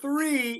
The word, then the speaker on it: three: ground but the number three if you don't pronounce the the H the th okay you're going to miss the sound and you might confuse someone okay yeah yeah may like